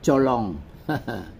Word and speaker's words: Chợ Lớn: Yên chân cũng giống như là chợ lớn. Khi mà đổi qua tiếng Mỹ thì chữ ơ thành chữ o, bỏ dấu nặng, thành ra đọc là cholon.